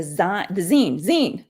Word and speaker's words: zine: Vic, I'll put the email up here so you can send the zine. That's how you say it, right? Yeah, The like magazine. yeah, magazine.